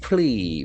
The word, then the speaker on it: plea: Plea. We can see the letter E A will give E sound.